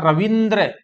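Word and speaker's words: रवींद्र: पहली बात तो इसका उच्चारण होगा रविंद्र, और यही शुद्ध है।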